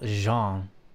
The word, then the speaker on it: Jean: separated um Alonso male Jean is pronounced like John and female one is